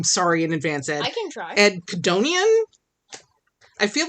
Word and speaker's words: Codonian: I I feel like one of these letters is silent. Like his name is either Ed Conian or Edonian and but Codonian and there's no apostrophe.